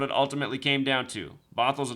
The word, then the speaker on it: Bothell: Bothell is spelled like bot hell. Bothell. And the reason that I live in Bothell is not because of its name.